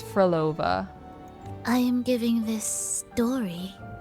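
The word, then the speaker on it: Frolova: I always think it's like the dessert like Pavlova, but it's Froolova.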